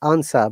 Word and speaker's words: answer: we can't pronounce answer it is answer because of vowel r uh priya it is according to the british ipa the r is silent remember that in american ipa that you have to pronounce it that's why american english